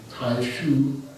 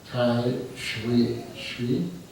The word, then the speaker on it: Taixu: it from so some people have called him tai shu and other people venerable has recommended tai shui i'm going to try that pronunciation i will be changing my habit energy